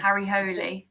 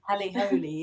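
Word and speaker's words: Harry Hole: Ho Holy that maybe that's the pronunciation of Harry oh yes I think that's right yes yes Harry holy har holy yes I I'm in Denmark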